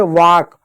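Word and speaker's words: walk: गया काम हो गया, एल साइलेंट होता, कभी भी एल के बाद एम हो, एल के बाद एफ हो, ठीक है, एल के बाद के हो तो इन जगहों पर एल हमेशा साइलेंट होता है।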